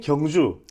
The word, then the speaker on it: 경주: 그 다음에 옌징 이런 데가 문제가 아니라 이야 한국의 경주. 예. 물론 미국 사람들은 발음을 할 때 옌주 이러지만 예.